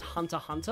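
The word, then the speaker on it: Hunter × Hunter: talking about because I recently learned that it's pronounced Hunter Hunter I always called it Hunter x Hunter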